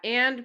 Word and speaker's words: et: is a a and it's pronounced like the letter a so i'll write off